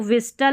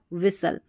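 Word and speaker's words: whistle: यहाँ पर देखिए इसको विस्टल नहीं, ठीक है, स्पेलिंग लिखेंगे तो आप विस्टल प्रोनाउंस करके स्पेलिंग को तो सही लिख सकते हैं, लेकिन पढ़ेंगे विसल।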